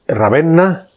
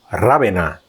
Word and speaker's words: Ravenna: La ciudad italiana de Ravenna, Ravena, si lo pronunciamos en español, es mundialmente conocida por